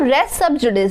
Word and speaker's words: res sub judice: Suit लिखा हुआ है, बट इसका जो लैटिन प्रोनाउंसिएशन है वो रेस सब जुडिस है।